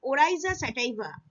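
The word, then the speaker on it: Oryza sativa: or rice plant the patio rice plant species oriza sativa oriza sativa this pronunciation remember this and this is the scientific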